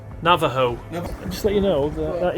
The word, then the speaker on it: Navajo: it sounds like uh i think in american india it's pronounced navajo navajo just let you know